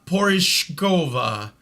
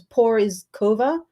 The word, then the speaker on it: Porizkova: waste your time uh paulina porishkova orage so the z is a j sound origova get it right badgers well